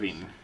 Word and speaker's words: Delevingne: Delevingne. It's pronounced Delevingne.